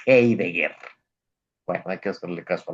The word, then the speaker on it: Heidegger: Iba a decir, normalmente le digo Heidegger, pero me corrigió ya don Luis Benavides, ya me dijo que es alemán y por lo tanto se pronuncia Heidegger.